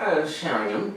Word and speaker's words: Sheringham: I don't know if that's how you say it. That's how I'd say it. Because I'm Canadian. I don't have time to do a lot of other special pronunciations of things. Sheringham. Oh, it's right.